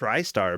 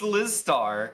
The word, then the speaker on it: Lizstar: are you not wait are you lystar no it's liz starr i i was like